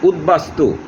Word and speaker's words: উদ্বাস্তু: আর উদ উপসর্গের স্বর্গে বফলা যুক্ত হলে বয়ের উচ্চারণ বল থাকে। উত একটি উপসর্গ, যেমন উদ্বাস্তু, এখানে বর উচ্চারণ বফলার উচ্চারণ বহাল রয়েছে। উদ্বেল, রসাউ দ বফলায় কেল উদ্বেল ইত্যাদি।